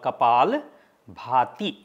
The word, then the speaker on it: Kapalbhati: can read the name it is called kapal bhati above the a you will see one line so that's means big sound it's kapal kapal and bhati that is the name